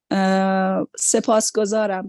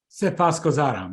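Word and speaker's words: سپاسگزارم: Sepasgozaram, sepas. Sepasgozaram, Mina.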